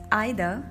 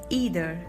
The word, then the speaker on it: either: In British English we pronounce it as either, and in American English we pronounce it as either. Focus on the R sound in American pronunciation. It's either, either. And in British pronunciation we hardly use any R sound at the last. It's either, either. There is no R sound.